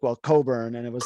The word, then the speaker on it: Cockburn: I can't remember uh it's pronounced Coburn but it's spelled oh right cockburn and actually funny story